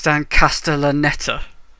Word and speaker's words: Dan Castellaneta: feeling them while in case I also can't pronounce his name it Stan Kasten they're not neither could i it's dan Castellaneta oh ok after it is no I he